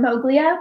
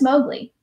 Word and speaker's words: Moglia: is spelled m-o-g-l-e-a and you will want to call them moglia but their last name is mowgli it's just heart it's